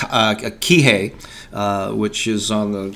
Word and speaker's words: Kihei: in in uh in a place called uh Kihei uh which is on the good job baby hey I pronounce it right um and so great this